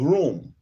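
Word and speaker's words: Roume: the irresistible negro room I see room r o u m e room room pronunciation not R room yeah a you room room all was correct room hille had gathered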